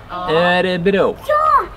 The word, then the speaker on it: Örebro: Örebro, or as the locals say, Örebro.